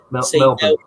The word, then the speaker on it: Melbourne: Paul, you need to correct Matt's pronunciation on how to say Melbourne.